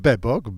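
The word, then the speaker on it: Bebok: I know I know but beok we pronounced it beok beok is a Creator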